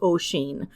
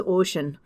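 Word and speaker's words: Oisín: up with, and that's Oisin. Both are kind of correct, but if you want to be a little bit more accurate regarding the Irish/Gaelic pronunciation, it is Oisin.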